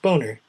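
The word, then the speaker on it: Boehner: the House John B name is actually pronounced boner I'm sorry that's not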